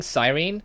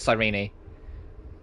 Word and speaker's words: Cyrene: I was saying Cyrene, because that's how I thought it was pronounced, but when Cyrene introduced herself, she said Cyrene.